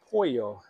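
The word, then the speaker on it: Poio: It's called Monasterio Pollo. Yes. It's not spelled like the chicken. It's P-O-I-O.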